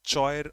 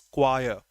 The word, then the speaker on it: choir: Choir, the pronunciation is, it's not choir or choir, it's choir.